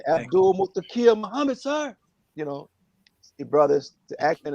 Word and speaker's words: Muhammad: moved back here and he told me that the accent is on the second syllable that's what he told me he really asked me brother what is your name i said abdullah muhammad you know brothers the